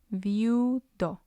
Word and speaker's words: viudo: They're both weak vowels, and the stress will fall on U because it's the last one.